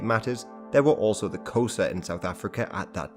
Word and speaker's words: Xhosa: Hence Xhosa is usually pronounced something like Xhosa.